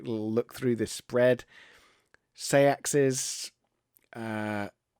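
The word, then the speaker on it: seaxes: look through this spread sayaxes uh depending on how you want to pronounce that some people just pronounce that sex sex sex um that's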